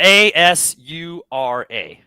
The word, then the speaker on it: Asura: Like Azura's Wrath or Wraith? Wrath. WRATH. And it came out in Azura's 2012. Wrath. 2012. Azura's Core full album? What the hell? Yeah, ASURA.